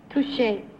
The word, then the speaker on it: touché: Number 3, in the vernacular of fencing, what would be the correct pronunciation of T-O-U-C-H-E? Touché.